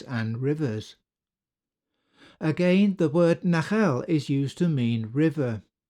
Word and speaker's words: nachal: Phonetically, nachal and nahar are the same word. The interchange between the L and R in ancient languages is well attested, but this Hebrew word